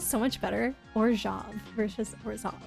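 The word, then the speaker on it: Orzhov: still the only ones that I know that pronounce it that way but doesn't it sound so much better orj versus orav like orav sounds like some kind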